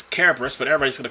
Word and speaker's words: Kerberos: I mean, the correct pronunciation is Kerberos, but everybody's going to call it Cerberus here in this game.